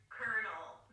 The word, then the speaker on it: colonel: to pronounce the word colel word is so de you ever heard of Colonel Sanders anybody ever called him colonal Sanders colonal Sanders exqueeze me that's just